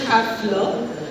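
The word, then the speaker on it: Häfele: Uh so as for the German pronunciation it is halfler halfler halfler but uh as Indians we may not pronounce it rightfully so it was a quality taken ages back by the family to say that it's okay if people call it happy.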